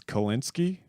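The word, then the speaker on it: Kulinski: billboard it's Kyle it's kolinsky it's it's spelled how it sounds it's kul i n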